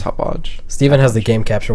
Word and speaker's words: Hauppauge: It's Hauppauge, maybe. Pauji. No, Dylan, no. Hauppauge. If you want to look it up, it's Hauppauge.